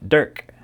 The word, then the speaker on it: DRK: By the way, DRK is pronounced Dirk.